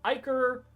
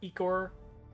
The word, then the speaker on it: ichor: There's also a bubbling black pot of ichor, or ichor, depending on your pronunciation.